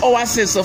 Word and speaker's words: oasis: you right, say, yes, you're pronouncing the first letter name O, the second letter name A, not E, like people will always say in Nigeria. We have two sounds together, to be pronounced for the letter name A. We have E and A together to sound please, A.